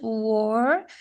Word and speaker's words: were: Essa pronúncia, pessoal, a gente tem que ter cuidado para não ficar aparecendo where. Where é onde, né? E o were é estavam ou eram. Então a pronúncia war para dentro da garganta, tá?